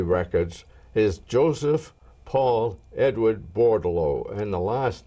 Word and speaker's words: Bordeleau: according to Army records is Joseph Paul Edward bordalo and the last name is spelled b o r d e l e